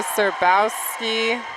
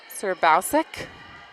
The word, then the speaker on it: Serbowski: That one goes outside to Serbowski. And it's a kill. Excuse me, I've been saying Hannah's last name wrong. Serbowsik.